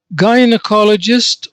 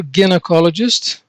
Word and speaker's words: gynecologist: Now, the first term, gynecologist or gynecologist, both are acceptable pronunciations.